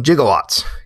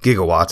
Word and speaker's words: gigawatts: capable to produce the 1.21 jigowatts gigawatts as it should be pronounced because remember this is